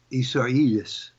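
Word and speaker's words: Isaias: even more so now we have hurricane isaiahs that's how you pronounce it really ridiculous but anyhow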